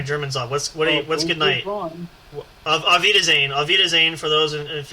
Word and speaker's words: Auf Wiedersehen: I want to make sure I get my pronunciation right. No, it is Auf Wiedersehen, but you can if you say good night, it's Gute Nacht.